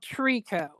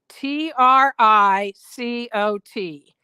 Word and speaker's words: tricot: I like to use what is called Trico. Tricot. Megan pronounces it tricot, but it's Trico.